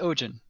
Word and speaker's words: Ojin: xavier you are correct it is ogen okay how do you spell that o j i n that's how i have it down the d silent uh and he is the